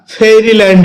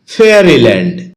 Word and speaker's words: fairyland: ফেয়ারিল্যান্ড এটাকে আমরা ফেরিল্যান্ড বলে থাকি যার সঠিক উচ্চারণ হচ্ছে ফেয়ারিল্যান্ড শব্দটি বাক্যে নাউন হিসেবে